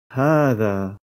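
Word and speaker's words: هذا: Il présente la particularité de s'écrire sans indiquer la lettre alif à la suite de la lettre ha, bien que la prolongation doit être réalisée à l'oral. Ce pronom démonstratif s'écrit donc bien hadha, mais se prononce hadha.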